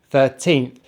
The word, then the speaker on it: thirteenth: in bird thir so put them together third teeth thirteenth and make sure you stress on the tint this is really important so next we have